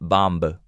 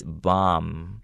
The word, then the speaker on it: bomb: Okay, and pay attention to the word bomb. Okay, even though it has a B at the end of the word, you don't pronounce it. It's not bomb.